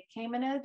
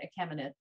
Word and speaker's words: Achaemenid: So this is most properly known as the Achaemenid or the Achaemenid Empire. Depending on where you're from, you may also pronounce it Achaemenid.